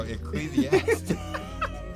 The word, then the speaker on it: Ecclesiastes: e eans is it is it is that pronounce it wrong it's ecclesiast oh Ecclesiastes oh my goodness I thought it was eal my bad Ecclesiastes 49 to 12 two are better than one